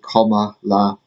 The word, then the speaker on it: Kamala: uh comma takes charge apparently it's pronounced comma like comma La um you know some